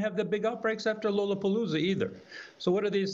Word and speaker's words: Lollapalooza: Next year, we're going to have to go to Lollapalooza, so you know that it's pronounced Lollapalooza, Dr.